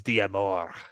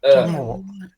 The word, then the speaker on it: Diamor: Carleo Diablo. I hate that guy. I love No, him. you said it wrong. It's Diamor. Dear more. I think I said it right the first time. Diamore.